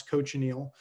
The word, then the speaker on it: cochineal: give my students is can you coach an eel it's very hard to coach eels of course because they're wriggling about but that's how you pronounce cochineal cochineal is an insect that's